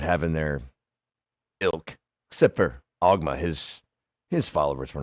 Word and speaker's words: Ogma: You say Ogmine? Ogma. Ogma.